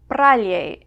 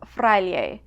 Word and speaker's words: fraile: Now, efe seems pretty straightforward, but you may occasionally see or hear a P in words that contain F. Pralie instead of fraile, or naparroa instead of nafarroa, or alperic instead of alferic.